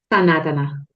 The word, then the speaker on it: Sanatana: Sanatana.